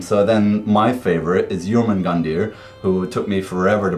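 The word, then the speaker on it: Jörmungandr: small part um so then my favorite is yerman gandir who took me forever to pronounce that properly and he is the world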